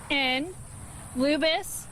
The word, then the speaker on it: Lubas: That's spelled, Lubis, L-U-B-A-S.